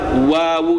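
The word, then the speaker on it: و: Jadi, satu-satunya huruf yang harus memonykan bibir adalah wawu saja ya.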